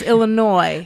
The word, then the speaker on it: Illinois: people from illinois and if you say the s on there i'm going to correct you yeah i corrected people at concerts thank you for having me now boo it's illinois look this is silent what what does that